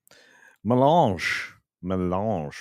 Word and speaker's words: melange: Melange rhymes with orange.